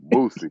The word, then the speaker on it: Boosie: You don't learn this. You don't know that you saying it wrong till you get friends from the south, man. You be like, yo, man, I fuck with little Bootsy. You're like, Boosie.